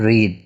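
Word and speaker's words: read: अब इसमें देखें ये जो इसको हम अक्सर पढ़ते हैं रीड, तो इसकी प्रोनाउंसिएशन क्या है, रेड, ठीक है। ये आपने अपने जहन में रखना है।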